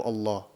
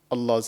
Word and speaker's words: Allah: to thicken it and the only time that you actually do thicken this letter is when this appears in the word of Allah yeah so in certain